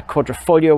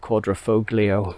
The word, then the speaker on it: Quadrifoglio: on the alpha julia quadrifoglio as they as i was reminded it's uh pronounced uh quadrifoglio with the silent g and uh and not uh with the hard g quadrifoglio so hey maybe it's